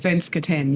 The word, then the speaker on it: Svenskt Tenn: Svenskt Tenn, yeah.